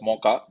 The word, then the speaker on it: Mocha: development of a cyclone you can pronounce it as mocha okay when in Cafe Mocha now some places they call it mocha also so it is left to you the IMD has a